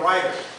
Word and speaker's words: Ryder: I've been with Bill every day since Thursday, and he pronounces his name Ryder.